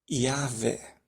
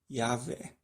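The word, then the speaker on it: Yahweh: fosse para ser pronunciado a pronúncia que encaixaria melhor que teria mais sentido com a lógica da língua hebraica seria yahvé seria essa pronúncia né yahvé Nós olhando toda a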